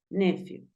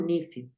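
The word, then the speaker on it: nephew: nuestro sobrino y sobrina sobrino se dice nefiu A veces lo he escuchaba como nifu se puede nefiu o se puede nifu nifu corresponde a sobrino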